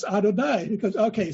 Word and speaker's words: Adonai: one little word no y yeah and he which he pronounced Y and so the rabbi helped him out and said no no that's Adonai because okay he says